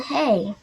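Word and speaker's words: Hei: no okay correct it it spelled you in h-e-i it's pronounced okay oh okay the boy said like you hey what about hey you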